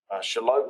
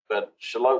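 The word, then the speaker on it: Shallotte: heard me say before shalot and charlotte are spelled similarly and pronounced similarly in both southern borders southern towns in north carolina shalott and charlotte in far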